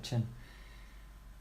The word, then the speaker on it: chin: shin no the chin that's a very Swedish mispronunciation saying Shane instead of chin which I still struggle